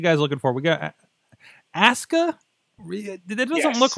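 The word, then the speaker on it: Asuka: one thing right because Japanese pronunciation you never pronounced pronounce the youu okay but is Asa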